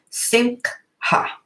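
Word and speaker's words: שמחה: This is joy, which is that in the Hebrew word is simha, simha, simcha. A little hard to pronounce it, but I'm getting in there.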